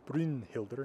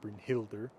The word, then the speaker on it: Brynhildr: Keep in mind that the emphasis or stress in a word is always on the first syllable, no matter how long it is. So the name of the Valkyrie is Brynhildr, not Brynhildr, Brynhildr.